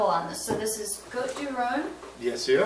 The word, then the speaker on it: Côtes-du-Rhône: Côtes-du-Rhône is one of the main regions in France